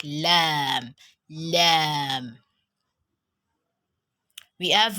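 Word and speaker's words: لام: is a consonant letter it is pronounced from the thunk that means it's a similar to letter l yeah exactly the way you pronounce l is the way you pronounce your letter lamb so it's similar to early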